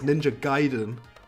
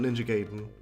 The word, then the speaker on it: Ninja Gaiden: And I'm saying it right, it's Ninja Gaiden, not Ninja Gaiden.